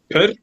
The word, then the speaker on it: pr: So this is pronounced per.